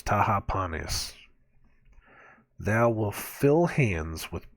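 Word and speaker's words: Tahpanhes: where is it to it is four syllables Taha panis thou will fill hands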